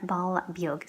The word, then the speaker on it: ball beag: Some people say bowl as well. I'm thinking of the teacher who says own as well. She said a really strong bowl. Ball beag, I think, is the more common pronunciation, which means in a while.